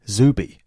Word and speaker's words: Zuby: book called strong advice it's z-u-b-y zooby welcome brother hey how's